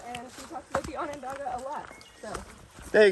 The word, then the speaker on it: Onondaga: Onondaga. Why would you pronounce it that way? That's how it's spelled. Why wouldn't you pronounce it the actual way, Onondaga?